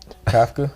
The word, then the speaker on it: Kafka: Kafka.